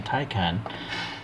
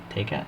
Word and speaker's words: Taycan: So as we all wait patiently for MiniGT to put out their version of the Porsche Taycan, I found this at the local shop, the good old toy store, and here we have the Taycan Turbo S.